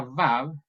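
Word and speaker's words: ו: Aunque esta Vav se transcribe también como W, se pronuncia como V, como por ejemplo verde. Y por eso en Israel nunca se da la pronunciación como UA, UA, sino siempre como V, la Vav.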